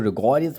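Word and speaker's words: rigorous: कुछ लोग रिगोरियस बोलते हैं इसको। ठीक है? आप रिग्रस बोल दीजिए, रिगोरियस बोल दीजिए। जो आपको अच्छा लगे वो बोल दीजिए। ठीक है? लेकिन रिग्रिस एक्यूरेटली इसका सही प्रोनाउंसिएशन है।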